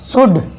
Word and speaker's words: शुड: देखिए एग्जाम्पल, ऐसे हो गया शुड, क्या हो गया, शुड। यहाँ पर डी के पहले अगर एल आता है तो वहाँ पर एल साइलेंट हो जाता है।